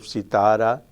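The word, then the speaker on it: सितारा: third from the right in the second group we have sitara heavy syllable but not the final one as in malayalam but the middle one kahani is the same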